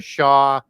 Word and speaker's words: Xia: And Lee is the eastern branch of the Shah dynastic kings, XIA as it's spelled, that were created from the dragon creator gods.